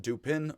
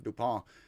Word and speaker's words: Dupin: that the narrator and Dupin read. Again, I'm going to call him Dupin, not Dupin, Dupin. I'm just going to pronounce it like an American, Dupin, because he's duping us all the time.